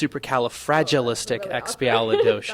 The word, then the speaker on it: supercalifragilisticexpialidocious: No, but I could tell you that that's not how you say it. It's supercalifragilisticexpialidocious. That is really awkward.